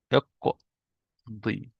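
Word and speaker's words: اقضِ: And we have اقض, but with كسرة. اقضي. That's so important to say it like that. And we will know in the future why I say it like that. But for now, you just need to know, you say اقضي. ضاد with كسرة.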